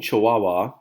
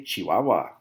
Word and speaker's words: Chihuahua: of dog this is if you're saying Chihuahua you're wrong this is a Chihuahua Chihuahua okay so be careful how you pronounce that achi Baba all right